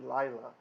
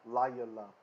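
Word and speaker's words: לָיְלָה: But she's absolutely correct here because we have a long vowel lengthened from the etnachta, that makes this an open syllable now, and then the schwa is actually beginning the next syllable, so layala in this case.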